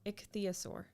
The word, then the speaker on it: ichthyosaur: you spell pronunciation there you go why does pronunciation so hard to spell i don't know here we go ichthyosaur ichthyosaur ichthyosaur ichthyosaur so i was close the